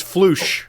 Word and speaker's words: Floosh: It is Floosh, the sound of fire. It's Floosh, the sound of fire. Floosh. Yeah, welling up. I suppose everyone else could just then call you Floosh then.